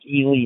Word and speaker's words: Ely: Uh, just pronounced Elie Nevada.